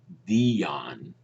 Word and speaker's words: Diane: but I think in Diane's case, or now some people say that the pronunciation should be Dion. I think her teacher Estelle Model, um, pronounced it Diane.